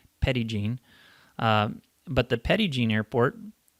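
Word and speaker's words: Petit Jean: a petty gene airport excuse the pronunciation my french listeners this is arkansas and we pronounce it petty gene but the petty gene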